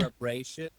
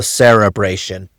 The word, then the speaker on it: cerebration: Celebration? No, so it's spelled like So spelled like celebration, but it's a the L it's an R. So cerebration.